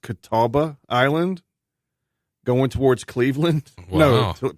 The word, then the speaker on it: Catawba Island: I think it's pronounced Catawba Island, going towards Cleveland.